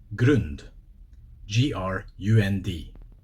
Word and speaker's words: grund: Grund, G-R-U-N-D. And in Scottish it's G-R-O-O-N-D. Grund, Groond. Grund, Grund, ground.